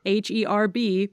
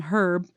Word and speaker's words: herb: going to name them h e RB people are going to call him herb and I'm going to be like no it's pronounced herb the H is silent fact Checker has we